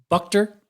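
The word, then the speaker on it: Buchter: Brandon Moss left-handed pitcher Ryan how do you pronounce his last name bucker yeah and cash to the A's for Heath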